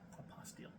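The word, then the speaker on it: apostille: just for the Apostle do I say that right apostile apostile okay I've heard everybody pronounce it different on YouTube so we're not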